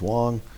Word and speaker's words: Wang: article there from uh Wang at all um actually usually pronounced in China is Wong um and they basically